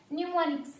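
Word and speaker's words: mnemonics: न्यूमोनिक्स। क्या होते हैं? न्यूमोनिक्स। यहाँ पर जो है आपका एम जो है वो क्या रहता है? साइलेंट रहता है।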